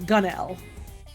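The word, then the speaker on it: gunwale: even louder than before gun whale is actually pronounced like gunel huh neat good to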